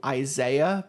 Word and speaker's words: Izzaiyah: I have to give a shout out to Isaiah, but it's spelled Izzaiyah.